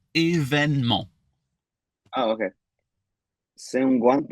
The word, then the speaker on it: événement: C'est un grand événement. Oh, événement. Wait, say that again. Oh, it's technically événement, but Événement. yeah, but you can shut off that E in the middle. Événement.